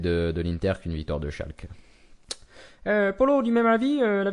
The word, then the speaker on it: Schalke: Bref, premièrement Vivier, on prononce pas Schalke mais Schalke, c'est très important en Allemagne.